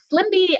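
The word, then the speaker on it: SLMB: So I'll show you a few other categories for this program on the next slide, but the SLIMBY and QUIMBY is how you say those acronyms, and please don't ask me what they stand for because I forgot to write that down.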